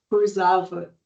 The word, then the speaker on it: Kurzawa: Hoje a gente tem a participação de Kurzawa. É assim mesmo a pronúncia correta do seu nome? Cursava, Kurzawa. cursava.